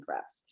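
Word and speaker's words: crêpes: important for making crepes. Crepes. Oh, I did not know that's how you pronounce crepes. Hoity-toity over here. It's the French pronunciation.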